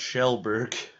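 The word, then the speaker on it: Kjellberg: It would be pronounced Shellberg. That's how we pronounce PewDiePie's name or last name.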